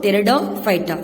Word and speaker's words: Pteridophyta: The P is silent, children. So Pteridophyta.